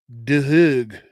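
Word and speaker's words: Duhigg: It is by Charles Dehig.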